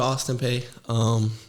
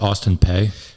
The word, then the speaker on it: Austin Peay: Do you pronounce it Austin Peay? P, no. P? Yeah, P, okay.